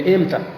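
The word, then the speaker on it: متى: اب متا کو بعض اہل عرب بگاڑ کر یوں کہتے ہیں لہجے میں ایم تھا. کیا؟ اب ہم نے تو متا پڑھا ہے تو یوں کر کے بگاڑ دیں ایم تھا.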